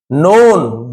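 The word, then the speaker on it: known: a ruler एक शासक नोन जाना जाता था है ना के साइलेंट है फॉर यानी के लिए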